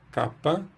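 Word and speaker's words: κάππα: O nome dessa letra no grego antigo é kappa, que a gente translitera assim, com 2 P's, e pronuncia esses 2 P's com uma força um pouco maior, então seria kappa, kappa.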